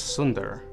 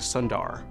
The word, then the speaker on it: Sundar: feel like they belonged cuz in thumel it's Sunder but my dad who's a doctor none of his patients could say his name so he changed it to Sundar and that's how I've always said my name so now it's our